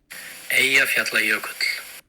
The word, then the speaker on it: Eyjafjallajökull: So if you press the play button there and hear the proper Icelandic pronunciation. Eyjafjallajökull.